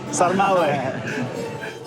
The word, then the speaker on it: sarmale: Oh, sarmal. Sarmal? Sarmale or sarmale? I'm not sure how to pronounce it. I've only ever... Sarmal? Thank you, thank you. Sarmale? Sarmale.